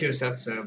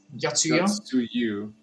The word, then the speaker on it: Yotsuyu: No, I thought it was Yosetsu, but it's not in front of me, so I can't see it. It's either Yotsuyu? Yotsuyu. Yotsuyu, okay. Yotsuyu, yeah. Or it's Yotsuyu, because TS.